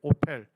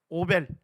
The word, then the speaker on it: 오펠: 있는요 지역을 오이라고 불러요 오펠 오이란 말 자체가 언덕이란 뜻입니다 성경에 오이라고 나오죠 오벨 예 거기가 영어 발음을 하면 오펠이 됩니다 오펠 예 요기요 지역에서